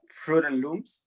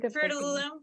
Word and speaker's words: Fruit of the Loom: Fruit and Loops. Am I saying it right? Fruit of the Loom.